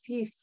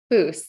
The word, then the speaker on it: Fuss: And we're being joined today by Kate Fuss. Am I pronouncing it or is it Fuse? Foos. That's okay. You pronounced it phonetically, so you're not wrong.